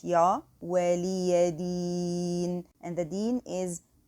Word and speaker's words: دين: Here I have to prolong this ya in this word, a prolongation for stopping. So it's deen.